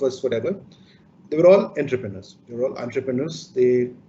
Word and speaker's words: entrepreneur: is a word which has come from a french word and the proper pronunciation is entrepreneur you know when you